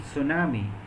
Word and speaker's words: tsunami: K is not pronounced in tsunami or in zoriasis uh the initial letters t is not pronounced that means there are